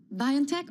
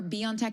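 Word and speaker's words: BioNTech: So, we're looking at Biion Techch or Beyond Tech. I've heard it pronounced both those times. Biantech. Biantech. Exactly. Me, too. But I've heard some of the actors say Beyond Tech.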